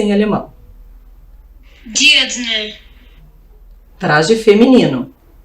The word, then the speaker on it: Dirndl: Vamos escutar corretamente a pronúncia em alemão. Dirndl. Traje feminino. Dirndl.